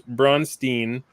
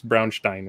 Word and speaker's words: Braunstein: meeting arners ran his brunstein type game I'm sorry I'm pronouncing that wrong it's Brownstein right brunstein type game and